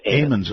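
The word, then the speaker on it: Ammons: family is that correct amen amens okay eamon's family that's a long a okay Eamon family and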